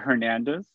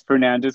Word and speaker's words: Fernandez: Well, with me, it's Mr. Hernandez. And I'll say, no, it's Fernandez with an F as in Frank.